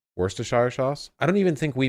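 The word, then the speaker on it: Worcester: episode about it yeah Worchester sauce Worster I don't even think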